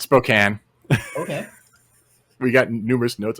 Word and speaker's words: Spokane: pronounce Spokane wrong oh okay oh because we pronounce it Spokane are you I was pronouncing Spokane it's not yeah it's Spokane okay we got numerous notes on that one